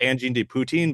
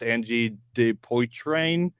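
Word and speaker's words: Angine de Poitrine: I call it Angine de Poutine, but it's Angie de Poitrain.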